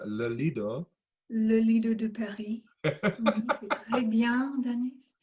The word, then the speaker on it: Lido: How is my pronunciation? Lido?